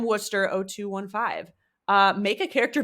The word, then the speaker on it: Worcester: um from M and I'm gonna pronounce this Worcester because I lived in Massachusetts but I'm not sure if that's actually how it's pronounced M Worster 0215 uh make a